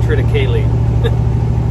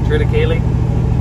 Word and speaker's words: triticale: sure the scientific pronunciation i think it's triticale but a lot of people call it triticale like rhymes with haley try to kaylee maybe that should be